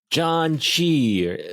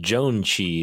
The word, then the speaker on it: Janchi: John Chi, or sometimes pronounced Joan Chi, is KJ's new show.